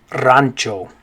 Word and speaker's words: rancho: ranch okay so anyway in english we'd say ranch where the a would make an a sound ranch but in spanish it makes an ah sound that a always makes an ah sound so in spanish we're gonna say rancho so in english you say ranch in spanish you say rancho good okay this next